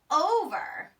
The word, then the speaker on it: over: Our next sight word is the word over. Over. The girl jumps over the rope. The word over is spelled O-V-E-R. Well, the first thing I hear in the word over is that long vowel O.